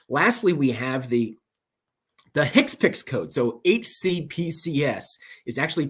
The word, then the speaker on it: HCPCS: that situation okay lastly we have the the Hicks picks code so hcpcs is actually pronounced hits picks for short and a Hicks picks code because